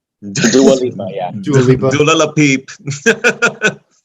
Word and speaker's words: Dua Lipa: Dua Lipa, yeah.